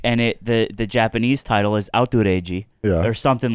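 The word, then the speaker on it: アウトレイジ: It's Outrage, pronounced in Japanese. The way they say it.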